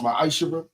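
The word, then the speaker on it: מעשר: The book of Malachi 3:8-10 means 10th in Hebrew and it's pronounced misher.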